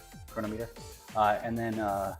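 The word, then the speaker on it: Cronometer: Chronometer. Uh and then uh a chronometer maybe is maybe the the better one. Better way to pronounce it.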